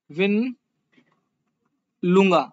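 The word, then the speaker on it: Mwinilunga: Zambia में है आपका विन लुंगा, और एम जो है इसमें साइलेंट है, विलिन मुंगा इसमें इसका ओरिजिन पॉइंट है।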